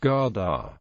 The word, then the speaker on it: gade: Much of the historic colonial architecture is still standing and words like street are more commonly referred to by the Danish translation gay pronounced garda.